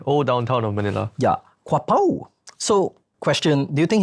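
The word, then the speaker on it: Quiapo: this other place, which I'm pretty sure I'll pronounce wrongly. Quapo.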